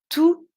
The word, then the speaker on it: tous: enfants aiment les vacances tous les enfants aiment les vacances vous voyez le s on ne l'entend pas tous les enfants aiment